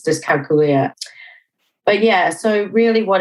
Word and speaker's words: dyscalculia: to change it to disc calcul it do make a more sense like that yeah yeah it does it does um the right pronunciation is disia but yeah so really